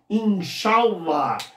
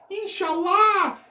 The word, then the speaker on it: Inshallah: Só cuide com a pronúncia. Em árabe, a tônica está aqui, Inshallah. Diferentemente da Khadija, filha da Jade, lá na novela O Clone, que dizia Inshallah, a gente dava risada